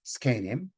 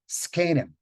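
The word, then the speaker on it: זקנים: It looks like it should be zakenim. And in Hebrew, in fact, which avoids consonant clusters, it is zakenim, moshav zakenim. But Yiddish doesn't mind consonant clusters, so it's skenim. But then the z, which is voiced, becomes unvoiced in the presence of that k right after it. So it's not as if it's pronounced zk, it's pronounced sk, skanim, which causes me a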